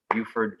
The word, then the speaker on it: Buford: special guest isaiah bond all the way from beaufort georgia is that how you pronounce it isaiah yes there it is love